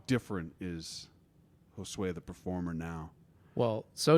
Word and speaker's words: Josue: their attendance sheet was josue and no one ever said it right no one ever did it was always joshua was that was joe